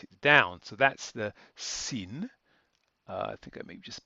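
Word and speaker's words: שׂ: sin that's this one here sin we pronounce socks whereas the sh the shin we pronounce sh as in shoot and the diacritics are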